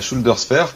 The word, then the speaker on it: ShoulderSphere: la schuldos fear alors la shooldersfare prononcée à la française est un outil que